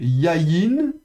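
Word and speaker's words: יַיִן: Ensuite, vous avez yayin. Yayin, ça c'est le vin. Donc, on prononce yod avec patar. Et puis de la consonne suivante, yod avec y. Donc, yayin. Yayin.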